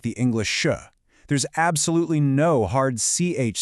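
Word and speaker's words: chá: It's spelled c h a with an accent, but phonetically it's incredibly simple, sha.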